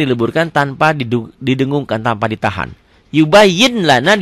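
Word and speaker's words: يُبَيِّنْ لَنَا: Yubayyin lana dibacanya jadi yubayyin lana. Ditulisnya kan pakai laten yubayyin, ada n-nya. Yubayyin lana dibacanya jadi n-nya hilang. N-nya hilang. N.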